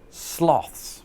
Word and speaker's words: sloth: And there, I purposely used the pronunciation that Americans use, because most of my viewers are American, and I wanted to build up some suspense as to how I say it, which is sloth.